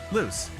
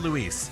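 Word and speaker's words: Luz: say lose again loose it's not Luis it's loose l-u-z is how they spell it on the show I think I pronounced the Z more I think in the show they pronounce it more like loose but uh yeah yeah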